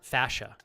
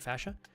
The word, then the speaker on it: fascia: your planter fa F I always mispronounce this fashion or fascia right fascia are you doing any